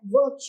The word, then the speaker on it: वृक्ष: लेकिन जैसे ही हम व के साथ में री की मात्रा लगाएंगे तो उसका उच्चारण पूरी तरह से बदल जाएगा। उच्चारण क्या हो जाएगा? वृक्ष वृक्ष। ये किस वजह से हुआ? क्योंकि हमने री की मात्रा व के नीचे लगाई।